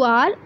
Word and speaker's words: hour: ओ यू आर, एच ओ यू आर, but pronunciation is आर.